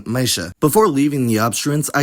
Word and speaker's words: meisje: Dutch I've ever heard, clusters of any alveolar obstruent before y simplify into a post-alveolar consonant. This is especially useful knowledge in diminutive terms, as that suffix is y, like in meisje.